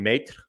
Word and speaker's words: Maitre: SMU, Jason Maitre, and I'm only saying it that way because it's spelled M-A-I-T-R-E. So it's Maitre without the D. So that is how I'm going to pronounce his name until I'm told otherwise.